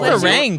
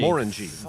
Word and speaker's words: Glenmorangie: Like Glen Meringue sounded Mor- much. meringue? The O in Morin, Glenmorangie. Morangie. Glenmorangie. That's the accent. More is in more Glenmorangie.